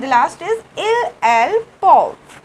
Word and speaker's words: peuvent: Okay, so vous pouvez, and the last is il, elle, peuvent. We do not pronounce E and T in the end, okay, we do not pronounce this, we just speak per.